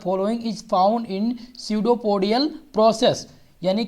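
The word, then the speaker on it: pseudopodia: स्यूडोपोडियल। ठीक है, पेस्डोपोडियल भी कहते थे, इसे स्यूडो कहा जाता है। क्या कहा जाता है? स्यूडोपोडियल। ये साइलेंट होता है यहाँ पर।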